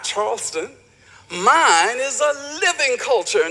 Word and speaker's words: Charleston: and sightseeing throughout chastain now that's how gully gichi speakers pronounce the word chaston not charleston mine is a living